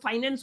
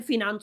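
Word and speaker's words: finance: अब आगे अगर आप लोग बढ़ते हैं ना, तो सर ये जो फिनांस शब्द शब्द है या जिसको आप लोग फाइनेंस बोलते हैं, असल में इसका प्रोनाउंसिएशन फिनांस होता है, ये आपको थोड़ा ध्यान में रखना है।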